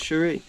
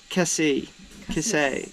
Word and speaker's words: Cassis: And yeah, now we're in Port Chérie. And what? Chérie? Cassis. Cassis.